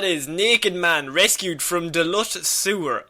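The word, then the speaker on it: Duluth: naked man rescued from Delut Sewer. Delut or Doot? D U L U T H. How would you pronounce that? I would say Duth. Okay.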